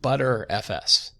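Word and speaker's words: Btrfs: bit and it's pronounced people pronounce it butter fs right and there are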